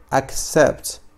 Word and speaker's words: accept: issues issues أن نفس الشيء الدالات، دعنا نقول أن معنى و باللغة العربية أن accept accept. فمعنى فعل accept معنى قبل accept. فهنا سي تنطق على الشكل كاي.